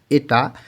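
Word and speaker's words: 의: উই যখন পার্টিকেলে, যখন কোনো শব্দের শেষে বসে, তখন এটার উচ্চারণ উই না হয়ে এর মতন উচ্চারণ হয়, এটার উচ্চারণ হবে এ।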